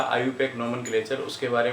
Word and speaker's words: IUPAC: तो इट is always pronounced as, ये ध्यान रखना, ये हमेशा आयुपैक के फॉर्म में जो है प्रोनाउंस होती है, आयुपीएसी नहीं बोलते।